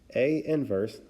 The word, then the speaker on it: A inverse: or the inverse Matrix a inverse is how we would pronounce this notation here a inverse is equal